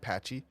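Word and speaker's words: Patxi: uh the blacksmith patchy patchy is name is spelled p axi patchy U thank you other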